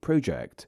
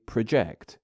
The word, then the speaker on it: project: When said as a noun, the first syllable is slightly more stressed, but when said as a verb, the latter syllable becomes more prominent.